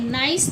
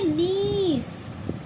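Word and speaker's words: niece: नाइस तो नहीं पढ़ेंगे ना? आई ई बीच में भी आ रहा है। तो इसे पढ़ेंगे नीस।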